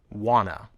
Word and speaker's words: wanna: sound want two but when we blend the words want and two together the T sounds disappear wanna listen what do you